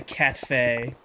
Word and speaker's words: Katfe: The Katfe. The T is silent.